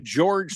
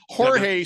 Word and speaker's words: Jorge: the longest home run of the Season uh George solar I'm sorry Jorge solar yeah he's his was 478 feet a